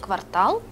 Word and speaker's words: квартал: А от наголос у слові квартал тут правильний.